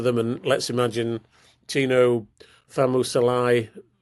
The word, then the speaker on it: Fa'asuamaleaui: Haas playing for them, and let's imagine Tino Famusalai, how do you pronounce it? Fa'asuamaleaui.